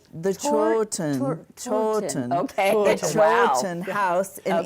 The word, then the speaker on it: Chawton: And she was an extraordinary quilter, and she had made this coverlet quilt that resides in this is how you pronounce it, the Chawton. The Chawton.